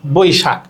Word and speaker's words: বৈশাখ: বৈশাখ, এখানে ঐকার আছে, ঐকার তার মানে ওই বর্ণ। আমরা জানি যে ওই এর উচ্চারণ মানে হচ্ছে ও আর রস্বই, এটা হচ্ছে উচ্চারণ। তাহলে বৈশাখ শব্দটাকে যদি উচ্চারণ লিখতে চাই তাহলে কি লিখবো? ব ওই রস্বই।